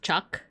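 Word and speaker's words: chak: Uh, and it's pronounced chuck. This is the glyph for yellow.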